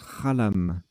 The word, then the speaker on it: xalam: anglo saxons blanc et protestants alors j'ai dit xalam mais en fait ça se prononce à l'âme mes excuses à l'âme x à elle à